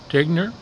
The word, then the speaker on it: Tignor: and you pronounce that last name Tigner? Tigner. And that's spelled T-I-G-N-O-R.